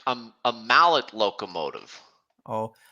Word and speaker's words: Mallet: Looks like a Malay. Like a mallet locomotive. Oh, I pronounce it Malay with a silent T at the end.